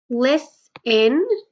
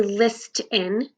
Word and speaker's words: listen: Listen. The only letter that is silent is that T, because you don't say list in, you say listen.